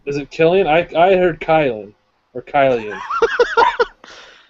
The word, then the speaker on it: Cillian: It's Killian Not? Murphy. Is it Killian? I heard Kylan or Kylian. It's Killian Murphy.